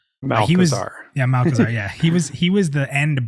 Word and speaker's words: Malchezaar: He said I can never pronounce his name right. Malchezaar. Malchezaar.